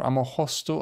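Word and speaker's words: Ammochostos: Famagusta, or Amohosto, I've heard it pronounced in Greek.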